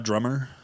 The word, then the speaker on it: Amadrama: Amadrama. It's supposed to be like Amadrama. Amadrummer. Oh. It's like a UK way of saying like, I'm a drama, mate. I'm a drummer.